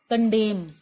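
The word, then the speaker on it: condemn: ठीक है, आगे मैं लिखती हूँ कंडेम। कंडेम होता है निंदा करना, तो ये तो कंडेम है, कंडेम। ठीक है, यहाँ पर N नहीं है। ठीक है, N साइलेंट है।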